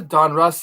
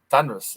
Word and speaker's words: Donruss: meme this is a Donruss like alternate pronunciation that I hear on Rhys or something no it's called Donruss thunderous I never heard Donruss it was always like Don Russ you know OPG it just